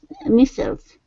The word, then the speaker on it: missiles: for destroying the incoming missiles in the mid-flight. Missiles. Incoming missiles in mid-flight. Yeah, incoming missiles. Missiles, not missile. Missile would be more the British English pronunciation.